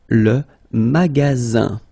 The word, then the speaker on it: magasin: Le magasin. Okay, remember you've got only one S between two vowels. Then you get the sound Z, alright?